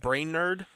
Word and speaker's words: Brainerd: in uh Brainerd Minnesota it's spelled uh b r a i n e r d so it's like brain nerd almost brain nerd brain I